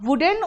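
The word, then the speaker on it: wooden: कुछ लोग उलन कहते हैं, कुछ लोग उडन कहते हैं। उसको आप वुडन और वुलन कहोगे क्योंकि आप अमेरिकन नहीं, आप ब्रिटिश हो, मतलब ब्रिटिश से सीखे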